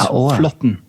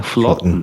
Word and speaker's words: Flaatten: Yeah, so the double A is Norwegian syllable Å, so it's Flaatten. Yeah, Flaatten.